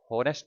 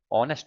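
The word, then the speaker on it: honest: हॉनेस्ट नहीं होता, हो हॉनेस्ट नहीं होता, ऑनेस्ट होता है ना।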